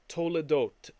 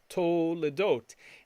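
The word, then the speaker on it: תולדות: Now, when this word toledot appears in Genesis 5:1, they only write the vav once, but it's still pronounced the same way.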